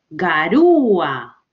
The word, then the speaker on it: garúa: Ejemplo, garúa. La mayor fuerza de voz está en U.